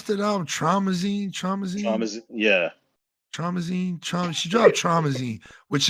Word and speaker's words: Traumazine: She dropped how you pronounce that album? Traumazine.